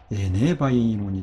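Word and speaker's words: ἐνέβαινον: 예, 뉘가 뮤가 된 것은 이 부를 발음하기 편하게 하기 위해서 그렇게 된 것이기 때문에 다시 이 사이에 애가 오면요 원래 형태 뉘를 그냥 회복을 하는 것이죠. 그래서 에네바이논이 되는 것이죠.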